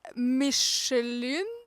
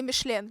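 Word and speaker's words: Michelin: супервалютна Подивіться будь ласка я не знаю навіть як це правильно читається мішелін ну не мішлен мішелін дуже класні якщо бути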